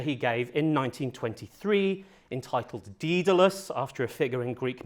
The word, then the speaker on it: Daedalus: and Greek, and I had until recently been pronouncing the title of his lecture and book Daedalus, and I now have it on good authority that the correct pronunciation is actually Daedalus.